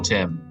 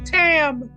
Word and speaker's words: Tam: welcome thank you General Tim you're welcome my name is not Tim it is now thank you General timtim don't sorry my ever alian accent just butchered your name it's General Tam thank you thank you